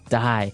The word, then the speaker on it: dye: Okay, dye. So it's pronounced exactly the same way as, to die, to not live anymore.